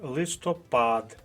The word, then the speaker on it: листопад: та й назва місяця листопад наголос на третьому а не на другому складі Отож з такими завданнями